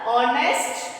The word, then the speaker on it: honest: So here H is silent. Then you should pronounce honor, honest, our.